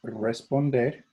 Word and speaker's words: responder: Looks just like the word responder, but it's pronounced responder.